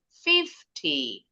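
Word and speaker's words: fifty: Kalau T artinya puluh. Contoh, 50. 50. Fifth-nya lebih tinggi intonasinya.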